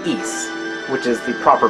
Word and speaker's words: Ys: Master System version that kind of leave like wise and not East which is the proper pronunciation so anyway East vanished you have to